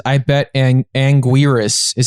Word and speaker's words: Anguirus: the chat here it says I bet and Anguirus is how you pronounce it oh and Garrus yes and Garrus